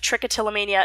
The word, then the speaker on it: trichotillomania: The trich of trichotillomania is pronounced trick.